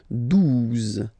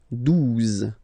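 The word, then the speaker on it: douze: Okay, 12. 12. O-U, the two together will give you the sound OO. Okay, and then Z. 12.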